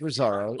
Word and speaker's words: Resaro: to use a business like Resaro? Am I Yeah. pronouncing that right? Yes, that's right.